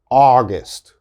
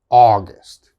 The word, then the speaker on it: August: period the next one august august this is ah au is ah august okay and the short